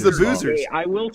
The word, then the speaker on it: Boozer: So, so it was all the So, it's the Boozers. I will say because as I've been saying all year, Boozer rhymes with loser.